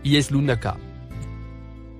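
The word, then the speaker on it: يسألونك: Le mot en surbrillance jaune se prononce Yeslunaka.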